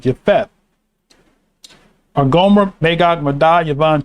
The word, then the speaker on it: Japheth: It's pronounced Y-E-P-H-E-T-H. Japheth.